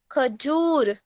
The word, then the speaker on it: खजूर: खजूर। पहला वाला। ख खजूर। जू हम लंबा खींचते हैं, जब हम ऊ की मात्रा लंबी खींची जाती है तो वो उच्चारण पहला वाला ऊ होता है।